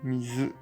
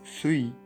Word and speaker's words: 水: milieu qui coupe et ça se prononce mise ou semi mais il se servir